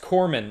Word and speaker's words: corpsman: into that because uh it's pronounced corman like the p is silent somehow oh okay it's not